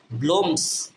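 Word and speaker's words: blooms: কি হবে because it ব্লুমস ব্লুমস বি L double ও উচ্চারণ হবে ব্লো ব্লো এম এর উচ্চারণ ম এর মত আছে উচ্চারণ ব্লমস ব্লোমস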